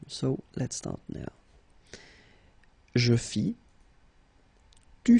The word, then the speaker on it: fis: Je fis. Tu fis, il fit, elle fit, nous fîmes, vous fîtes, ils firent, elles firent. Okay, so one more time. Je fis, final S not pronounced, tu fis, same thing.